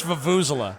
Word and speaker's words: vuvuzela: Fuck, how do you pronounce this fucking word? Vuvasilia? Vuvasilia? Vuvuzela, I think. I don't know, dude. It's Vuvuzela. Vuvuzela.